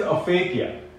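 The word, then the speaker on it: aphakia: affects bending of light the fifth word is a fakia a fake yeah pronounced together as for a fake here it is a condition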